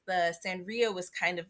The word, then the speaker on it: Sanrio: cards of like uh scenario like sanrio sanrio yeah i always call it scenario and that's not at all how it's spelled but whatever um sanrio